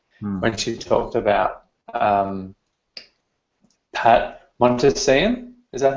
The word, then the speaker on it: Montesian: she talked about Pat Montesian. Is that how it's pronounced? Montesian. I think it's Montesian, maybe. That's how Matt Booker pronounces it, so I'll go with that.